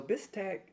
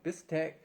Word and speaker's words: bistek: to take taste test a bistek pinoy so bistack is a a basically it's a filipino beef steak so bistec there is some different variations in the pronunciation